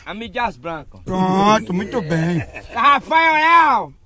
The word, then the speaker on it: M. Dias Branco: Eu disse Mias Branco. Alô, Ivan Júnior, veja a pronúncia certa do grupo. Alô, seu Rafael. Veja a pronúncia certa do grupo M. Dias Branco, como é? M. Dias Branco.